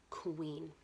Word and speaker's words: queen: Kind of sounds like a k and a W next to each other, right?